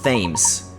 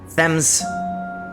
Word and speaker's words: Thames: be headed towards the Thames themes themes isn't it yeah let's follow them and rescue a speller right you are a professor Thames not themes okay Thames okay